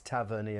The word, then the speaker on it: Tavernier: So any fans out there who want to know how you pronounce it, it's Tavernier, because I asked him.